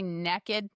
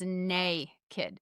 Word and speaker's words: naked: laying outside and we I always say neaked that's how we pronounce in the south. My husband still gets on to me. He's like babe the word is nay kid.